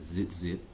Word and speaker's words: tzitzit: extended spelling because we do know that it's pronounced zit zit you would spell it with a zai a